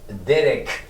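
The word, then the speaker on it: דרך: 길, 호도스, 데레크. 요걸 데레크라고 읽는다.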